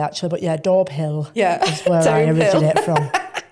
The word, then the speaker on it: Daubhill: I thought it was called Dobé. No, it's not Doorbé and it's spelled Doorbill. Um, but no, we should call it Dolbé actually. But yeah, Dorbill is where I originate from.